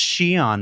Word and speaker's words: Xi'an: And if your instinct was to stop the YouTube video and go immediately to comments and say, it's pronounced Shion, Mark.